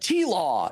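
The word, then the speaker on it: TLAW: I don't know the full details of it, but T-Law is how they are often pronounced.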